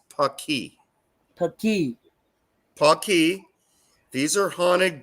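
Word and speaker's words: Paqui: Yeah, And the way you pronounce it is Paki.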